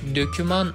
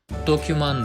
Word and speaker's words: doküman: o mu yoksa önümü genellikle halk arasında döküman olarak bilinse de bu Kelimenin doğru telaffuzu doküman Iğdır Halk arasında döküman